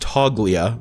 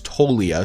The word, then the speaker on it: Toglia: him there's Michael toia I thought it was pronounced toglia but I've learned that it's toia so let me know